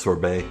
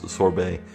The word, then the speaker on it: sorbet: sorbet sculptures had melted apparently it is pronounced sorbet I got it wrong not sure Bert which is a different dessert it is sorbet I can never never